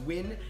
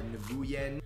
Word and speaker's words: Nguyen: Win is pronounced Win.